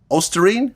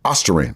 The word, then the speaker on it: ostarine: Garcia had tested positive for the band peed ostarine ostarine aine yeah I learned how to pronounce it after he got caught with it